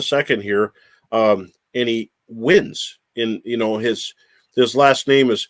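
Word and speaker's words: Huynh: in just a second here um and he wins in you know his the his last name is h-y-u-n-h but it's pronounced win and so what a great name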